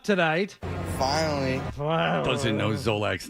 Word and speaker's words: Zolak: And you can't pronounce Zolak? What do I think? Like Zolak. It's 2 syllables.